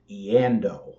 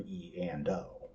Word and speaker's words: Eando: It was usually pronounced as Eando all at once instead of E&O.